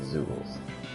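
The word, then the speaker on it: Zeugle: So they do pronounce it Zoogles.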